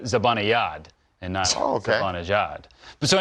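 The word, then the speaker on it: Zibanejad: it's not it's a it's a soft j it's mika zabanayad and now okay but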